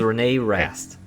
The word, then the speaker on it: René Rast: Yes, this is René Rast.